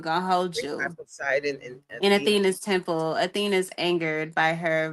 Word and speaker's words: Athena: E uh Etheina. How do you say her name? Athena.